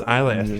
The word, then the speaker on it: Isla: Pronounced Isla. Okay. Just nope. Isla from Easy Allies.